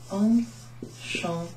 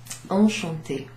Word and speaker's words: enchanté: Enchanté. Enchanté. So here we have an accent over the E. That changes the way it's pronounced and it makes it an A sound.